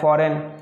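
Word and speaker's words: foreign: जी लिखा हुआ है फॉरेन, विदेश, जी साइलेंट है।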